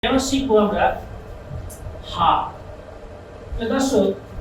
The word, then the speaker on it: ح: হা এই হা উচ্চারণ করার সময় একটা হাওয়া বাইর হবে। এবং সেম হাওয়াটা বাইর হচ্ছে কিনা বোঝার জন্য একটা মুখের কাছে হাত নিলেই আপনারা বুঝতে পারবেন।